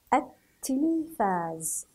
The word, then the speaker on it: التلفاز: التلفاز، التلفاز. ألا تلاحظون وجود اللام ال؟ لكن أنا لم أنطقها أثناء القراءة، فقط هي موجودة في الكتابة. التلفاز، التلفاز. إذن هذا ال نسميها الشمسية، الشمسية، تكتب ولا تنطق.